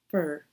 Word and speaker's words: for: thanks for reaching out not a big strong o sound in the word for but short and weak fur thanks for reaching out